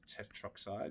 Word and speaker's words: tetroxide: A little subtle thing is if you get an A and an O and stuff, you generally just drop the A. So it's tetroxide.